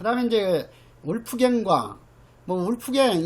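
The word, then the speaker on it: Wolfgang: 그 다음에 이제 울프갱과 울프갱, 이것도 어떤 교재에 보면은 이것을 그 독일식으로 발음해 가지고 볼프강 이렇게 또 번역해 놓은 책도 있어요.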